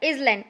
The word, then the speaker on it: island: Previously I told you that you will pronounce this word as island, not island. Okay, correct pronunciation of this word is island.